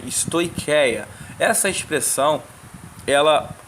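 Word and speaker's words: στοιχεία: i a no entanto o ch se pronuncia como um q né stoia essa expressão ela é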